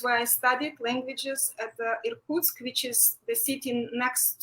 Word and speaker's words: Irkutsk: So were you educated then in, how do you pronounce it? Irkutsk. Yakutsk? Irkutsk.